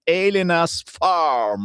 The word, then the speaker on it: Elena's Farm: Tra pochissimo parleremo di un home restaurant, si chiama Elena's Farm. Ma è giusto, si pronuncia così, Elenas Farm e si trova a Trovo in provincia di Pavia, due passi da Milano, praticamente.